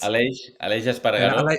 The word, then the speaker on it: Aleix Espargaró: Aleix Espargaró. Yeah. That's how you pronounce it.